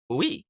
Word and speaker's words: hui: Groups of investors in large projects are often called a hui, pronounced hui.